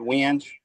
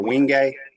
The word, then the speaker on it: wenge: The dark wood right here is called wenge or wingay. Depends on what part of the country you're from, how you pronounce it.